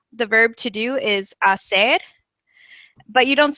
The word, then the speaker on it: hacer: pronunciation tips is that the H is silent when you're reading um so you have words like um to do the verb to do is Asser but you don't say hacer you just say Asser